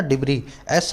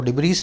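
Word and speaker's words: debris: डिब्री, एस silent होता है इसको, डिब्रीज नहीं बोलते, डिब्री।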